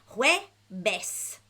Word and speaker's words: Jueves: Jueves.